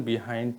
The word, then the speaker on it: behind: প্রিয় শিক্ষার্থী বন্ধুরা, একটি বিষয় আপনাদেরকে বলি, সেটি হচ্ছে দেখেন, আসলে উচ্চারণ হয় বাহাইন্ড। আসলে বাহাইন্ড উচ্চারণে যেহেতু আমরা অভ্যস্ত না, তাই আমি বাহাইন্ড উচ্চারণ করতেছি না, আমি বিহাইন্ডই আপনাদেরকে বুঝিয়ে দিচ্ছি।